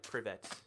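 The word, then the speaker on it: привет: Toycat, you can pronounce hello in Russian like privet.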